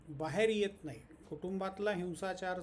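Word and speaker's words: Beauvoir: ती तीन महत्त्वाची पुस्तकं सिमोन बोहार आता हे बोहु आर किंवा बोहा असे वेगवेगळे उच्चार त्याचे केले जातात बी इ ए यु व्ही ओ आय आर असं फ्रेंच स्पेलिंग आहे ते आणि त्यामुळे उच्चार त्याचे वेगळे वेगळे आहेत तर सिमोनॉन द बोहार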